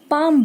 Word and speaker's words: palm: इसे हम पाल्म नहीं बोलेंगे, पाम बोलेंगे।